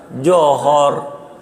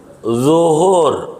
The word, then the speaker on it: zuhur: Johor, kata dia masih Singapura, gitu, belum nyebrang, johor, begitu. Zuhur, zo, bukan jim, dia johor.